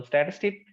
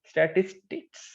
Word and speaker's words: statistic: तो स्टैटिस्टिक, अच्छा स्टैटिस्टिक एस नहीं है, स्टैटिस्टिक्स नहीं पढ़ना, एस लास्ट में प्रोनाउंसिएट नहीं करना, यहाँ पर एस नहीं है, ये ख्याल रखना है, स्टैटिस्टिक।